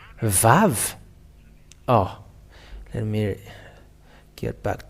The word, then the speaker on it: vav: Okay, so we can say now the Vav. The Vav, because it is called as Vav, it is pronounced as a V.